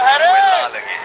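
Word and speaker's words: Wellalage: Good in Wella Lage. Not Bala. What about it pronounced Bala? Balagay, can you say that?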